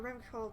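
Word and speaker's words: Revachol: makes it harder for rimcall to actually attain self-determination i've been i've been pronouncing it with the with the hard syllable this whole time and apparently it's the soft and i don't know if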